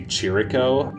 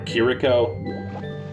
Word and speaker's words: Chirico: But it wasn't until recently that I discovered Giorgio di Chirico, who's kind of similar, or Chirico. Someone told me recently that CH in Italian is actually pronounced K, where just a C